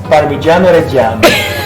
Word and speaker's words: Parmigiano Reggiano: It's Parmigiano Reggiano. What is that? Okay.